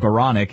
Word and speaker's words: Baranek: Baranek, I'm sorry, I keep reminding myself it rhymes with bionic, Baranek, and he was telling us the story about how he got his call sign, Bio.